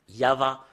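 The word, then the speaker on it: יהוה: Yava. Rien d'autre que ça. Et Yav, ça parle pas, mais c'est Yava qui parle.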